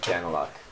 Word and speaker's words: Daniluk: So it's we say it like Daniluk. Daniluk. But it's Ukrainian, so it'd be more like Daniluk would be your proper.